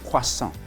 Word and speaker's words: croissant: So this is croissant, and here the main vowel sound you hear is wa and on. So croissant.